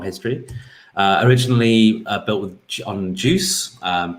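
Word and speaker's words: Guice: originally built with on juice pronounced like the drink juice developed by google around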